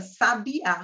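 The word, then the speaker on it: sabiá: tônica é o tá Mas eu tenho também a palavra sabia O que é uma espécie de pássaro então a sílaba tônica é o ar então eu vou ter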